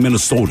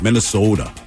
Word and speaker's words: Minnesota: You think people in Minnesota, we don't say it like that. Why do you always go Minnesota? We call it Minnesota. Stop saying Minnesota. It's Minnesota.